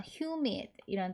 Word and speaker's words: humid: 말로 비슷하게 쓰이는 단어가 humid이라 단어가 있어요 hu MID 하면 h 소리 나고 유는 유 이렇게 발음나요 같이 알파벳 이름처럼 그리고 m 하면 미미